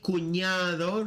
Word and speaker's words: cuñado: Then we have mi cuñado. Remember the ñ sound, just like in champagne.